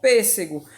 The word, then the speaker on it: pêssego: P, PS, pês, SE, depois GO, pêssego. A sílaba tônica dessa palavra é onde? É PES, ó. Porque ela está acentuada e